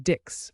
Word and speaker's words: dix: And finally, 10 dix, pronounced d's. It's like saying these in English, but with a softer sound.